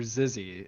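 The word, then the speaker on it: Xyzzy: It's Pretend You're Zizzy, and it's got like XY ZZY. It's spelled kind of funky, but it's like online Cards Against Humanity.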